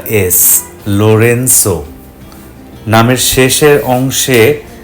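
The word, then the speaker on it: Lorenzo: নামের প্রথম অংশে জি উচ্চারণটা এস, লোরেন্সো।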